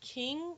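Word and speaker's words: Qing: tock and i uh i think it's king is how you pronounce it it's q-i-n-g she's chinese um king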